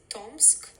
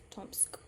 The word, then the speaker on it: Tomsk: is going to be the hardest one it's pronounced Gorka gor so you say gor then the next one it's tomsk tomsk and then the last one is nadda nadda